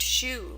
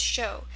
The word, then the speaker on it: shou: It looks like it should be pronounced shoe, but it's pronounced show because of that Chinese.